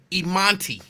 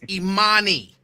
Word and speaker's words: Imani: Like, and I'll be like, that is not how you pronounce her name. And then he would slow it down. Imanti. And I'll be like, no, Daddy. It's Imani. No T.